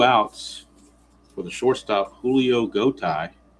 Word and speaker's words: Gotay: 2 outs for the shortstop, Julio Gotay. Rhymes with bow tie.